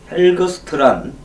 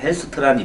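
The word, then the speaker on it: Helgstrand: 이 헬거스트란 그 G자 발음을 보통 안 하니까 헬스트란이 맞겠죠.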